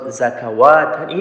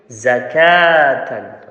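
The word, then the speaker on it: زكاةً: Remember, this waw after the kaf is the extra letter waw. Okay, you don't need to pronounce it. It's not zakawatan, it's zakatan.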